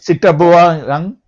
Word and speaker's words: Zitterbewegung: Zitterbewegung. Yeah, except in German, W is pronounced as a V.